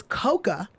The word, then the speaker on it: Cocoa: And then, you know, when I realized that the proper way to say Cocoa is Coca, Right.